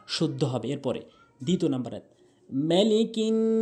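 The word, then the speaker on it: مَلِكِ: হবে এরপরে দ্বিতীয় নাম্বার মালিকিন অনেকেই ভুল করে বলে মা টেনে বলে টেনে বলা যাবে না মিম আলিফ মিম জবর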